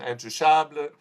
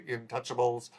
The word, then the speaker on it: Intouchables: Now, there are obvious and there's fair comparisons between this film and the 2011 French film Intouchables, or as Americans say, Intouchables, and the inferior remake, which opened last week, The Upside.